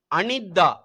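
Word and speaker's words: අනිද්දා: ஏ ஈ நேற்று அடுத்தது அனித்தா அனித்தா என்றால் நாளை மறுநாள் அதாவது நாளை அன்னைக்குன்னு சொல்றோம் அதுதான் அனித்தா அப்ப உச்சரிக்கிறது அ நித் தா அனித்தா அனித்தா அனித்தான்னு சொன்னா நாளை அன்னைக்குன்னு அர்த்தம்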